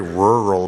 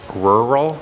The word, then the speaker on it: rural: west coast we go I always sound like it's kind of like Earl but with a r i I always sound